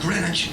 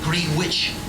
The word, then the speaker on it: Greenwich: Notice I said Greenwich, not Green Witch.